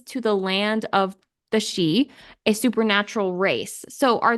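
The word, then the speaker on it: sidhe: I don't know how to pronounce it it's pronounced she she okay I was that's what I looked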